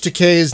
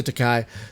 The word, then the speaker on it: Takei: I always want to say Takai. So I don't know why. Thank you for taking. Wait, is it not Takai? It's Takei. It's Takei. Oh my God! Takei. I've been saying it wrong this whole time. I know. I feel terrible. Oh just my God! Just think. He's gay. So George Takei, gay. Just use that to keep the rhyme, and you'll be fine.